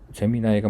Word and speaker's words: Gemini: 많이 했었죠 재미 나이인데 어 재미 나이가 맞는 발음인데 우리 이 식으로 그냥 읽으면 잼민이 같아 갖고 잼민이 잼민이가 뭐 잘